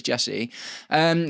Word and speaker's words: Jesurun: And I called him Max Rak-Sakyi several times in my video today, by the way. Very sorry, Jesurun, if you ever happen to watch this or watch my content. Got your name wrong that time, but it is Jesurun.